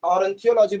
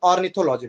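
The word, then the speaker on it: ornithology: अब हाँ, इसमें एक चीज याद रखना है आपको कि ऑर्निथोलॉजी, ऑरेंथियोलॉजी बोल रहे हैं हम, ऑर्निथोलॉजी बोलते हैं ना, ऑर्निथोलॉजी, ऑर्निथोलॉजी उड़ेगा,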